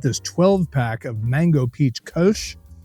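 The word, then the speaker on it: Kölsch: Kosh is how you pronounce it is a German word is a German style of beer.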